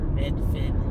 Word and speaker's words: Medford: a park so so medford which some of the locals call medfin it's interesting how the